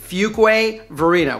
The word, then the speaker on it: Fuquay-Varina: And yes, it's pronounced FUQUAY-VARINA. We get a lot of people messing that up, mixing that up. So FUQUAY-VARINA was the merger of two little towns, FUQUAY and VARINA.